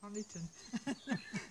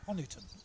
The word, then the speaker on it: Honiton: There's one or two from, spelled with all kinds of different ways, Honeytown. I've always said Honiton. So well, the historically minded people say Honiton, and they reckon it's after a Saxon patriarch called Honey, H-U-N-I, Honey.